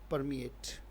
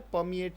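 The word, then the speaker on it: permeate: उच्चारण क्या है? परमिएट। इसमें र साइलेंट भी हो सकता है, परमिएट भी पढ़ा जा सकता है। ब्रिटिश और अमेरिकन का फर्क है, राइट।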